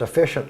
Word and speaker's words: AFishunt: the name is pronounced efficient charters it's a little play on words if you say it